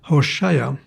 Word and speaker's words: Hoshea: A name is pronounced Hoshea.